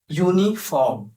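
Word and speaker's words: uniform: এটার সাউন্ডটা কনসোনেন্ট। যেমন ইউ ইউনিফর্ম ওয়াই ও ইউ Y your মত সাউন্ড করতেছে।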